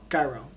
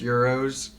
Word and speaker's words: gyros: I went and got this gyro. And I was ready to eat this gyro. I ate it. I believe they are pronounced Euros. Gyros.